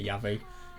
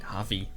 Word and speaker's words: Javi: going to do to Yavi in the end. So it's actually pronounced more with like an a sound like Javi something like that. It's kind of a Spanish name.